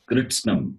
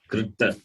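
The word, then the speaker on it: kṛtsnam: It is Kritsnam, not Kritta. Kritasnam. Kritsnam. A bit difficult to pronounce. You will hear it later. Not Kritsnam. Kritsanam. It is not Kritsanam. It is Kritsnam. Kritsnam means total.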